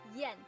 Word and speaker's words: yan: I-A-N in pinyin is pronounced as yen. Yen. Yen. Although its spelling is I-A-N, it actually sounds like I-E-N as in Japanese yen.